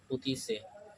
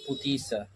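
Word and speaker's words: pâtissier: इसको हैंडल करते हैं सेफ पुती से, जिसका स्पेलिंग होता है PATISSIER, जो रिपोर्ट करता है सेफ दी क्विजीन को।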